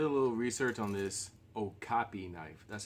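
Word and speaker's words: Okapi: so I did a little research on this Oh copy knife that's how you pronounce it is Oh copy it's a knife you know as used by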